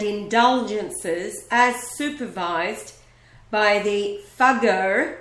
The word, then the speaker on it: Fugger: as supervised by the fago that's spelled f u g g e r and rhymes with buger which is what what